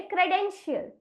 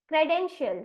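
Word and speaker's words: credential: गया है और इसीलिए इस शब्द का उच्चारण हम करेंगे क्रेडेंशियल क्रेडेंशियल right C आर कहां से आता है कन जॉइंट से आता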